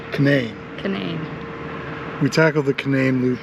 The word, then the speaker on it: Canaan: Canaan Loop Trail. That's how it's pronounced. Can-Nayne.